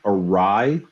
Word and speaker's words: awry: laughing at he said do you mean awry a-w-r-y i went is that how it's pronounced he said yes and then he started